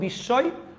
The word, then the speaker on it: বিস্ময়: ম ফলা যদি মাঝখানে অথবা শেষে থাকে তাও উচ্চারণ হবে না, যে বর্ণের উপর বসবে সেটা দ্বিতীয় উচ্চারণ হবে, যেমন বিস্ময়, আরেকটা হচ্ছে কি, আরেকটা হচ্ছে কি, আরেকটা হচ্ছে কি বর্ষ, ঠিক আছে।